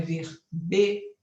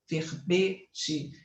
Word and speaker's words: verbete: deve pronunciar a palavra verbete vejam que ele coloca um e fechado então é verbete verbete fechado né Tá certo ele